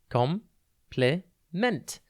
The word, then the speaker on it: compliment: It's pronounced complement, and it is spelt COMPLIMENT. Think comp, then lee, and then ment.